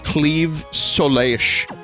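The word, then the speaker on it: Claímh Solais: Vinny, in case you were curious, the sword is pronounced Cleave Soleish. Yeah, this is a discussion we had in a previous Castlevania stream where I got the same weapon, and it was like, you have to pronounce it like a Welsh person says the name of their town.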